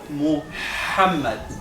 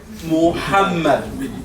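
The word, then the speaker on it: محمد: Pero ha es Muhammad, sale de aquí, del halq. Ha, Muhammad. Bueno, Muhammad.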